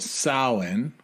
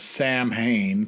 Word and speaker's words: Samhain: old uh Celtic custom that uh is called Salin which you've probably heard of before some people it's written as Sam Hayne but if there's any uh folks in Ireland